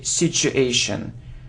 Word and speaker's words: situation: pronunciation the correct transition it's the sound sure sure sure so situation situation so you need to say situation okay well done okay